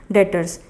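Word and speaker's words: debtors: भी हमारी करंट से डेटर्स इसमें बीड्स साइलेंट होता है तो इसको लोग डर बोलते हैं डेट क्या होता है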